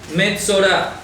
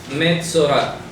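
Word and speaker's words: מצורע: Metzorah. Metzorah. ¿De acuerdo? En hebreo se escribe Mem Tzadei Reish Ayin.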